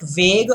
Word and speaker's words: vague: Is it vague? By the way, that's the pronunciation.